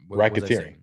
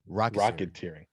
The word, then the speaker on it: racketeering: racketeering ra yeah right racketeering i'm hearing rocket rocketeering what are we talking about rocketeer can we get it right racketeering it's the same